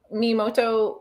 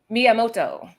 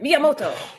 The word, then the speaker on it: Miyamoto: pronouncing things sometimes but is it mimoto usagi miyamoto you just say it like that you say the accent miyamoto and uh we are